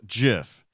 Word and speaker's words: GIF: time I've known him creator of dot gif says it's pronounced jiff wrestler there's a bow